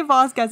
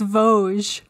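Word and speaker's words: Gévaudan: actually just say that we're pronouncing it really really badly I looked up how to pronounce it oh how do you how do you pronounce it I think it's like Voz Vogue Don't say Vasquez anymore it's Vogue but please go on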